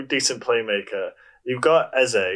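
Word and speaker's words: Eze: play maker you've got essay is how you say his name he's actually really good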